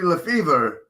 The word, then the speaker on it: Lefebvre: round two which is apparently LeFevre the B is silent and it's been like